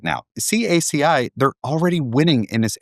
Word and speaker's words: CACI: It's actually pronounced CACI, not khaki, as a lot of people call it.